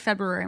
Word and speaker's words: February: February now no I I've always said February my entire life because of the r i feel like they